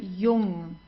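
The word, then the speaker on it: Jung: and then we have the J which is pronounced like the English y so it's not Julia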